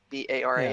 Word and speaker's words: Baran: So he says daughter of Beor or Baran, I guess we would say. Baran? Is that how we pronounce it? B-A-R-A-N? Yeah, Baran. Now, Baran.